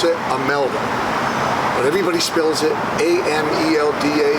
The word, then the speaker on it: Imelda: The reason I say Imelda, you really pronounce it Imelda, but everybody spells it A-M-E-L-D-A, not that she's sensitive to that, but we have I-M-E-L-D-A Paclabar, Imelda Paclabar, award-winning actress.